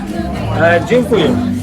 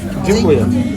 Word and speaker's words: Dziękuję: Dziękuję. Dziękuję.